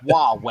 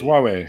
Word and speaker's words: Huawei: Huawei. No, it's Huawei.